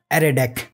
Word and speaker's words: ArrayDeque: ended queue or array deck yes it is pronounced as array deck jack so what is error deck and how